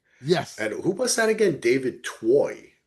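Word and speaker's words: David Twohy: David Toy, right? Is that how you pronounce it?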